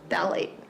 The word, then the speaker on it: phthalate: It says it sounds like THA LAYT. Okay. Phthalate. So Phthalate. it's not phthalates.